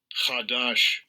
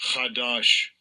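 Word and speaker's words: חדש: word is hadash hadash let's see how it's pronounced Strong's AG 239 kadash Kash kadash meaning new new thing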